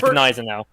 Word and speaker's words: Gneisenau: Is it pronounced Gneisenau, or is it pronounced Gneisenau? It's Gneisenau.